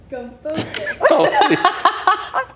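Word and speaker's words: gomphosis: The word is gumphosis. Gophosis?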